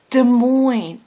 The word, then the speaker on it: Des Moines: he is like Alex its Des Moines the S is silent so I go sorry you